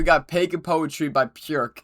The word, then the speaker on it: Björk: All right, next up, we got Peg and Poetry by Björk. That's the Icelandic pronunciation.